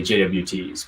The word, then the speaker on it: JWT: Yeah, Kelsey mentioned in the chat that they're pronounced JOTs. That took me a little while to get used to too, because I used to say JWTs, but that's what we all call them internally.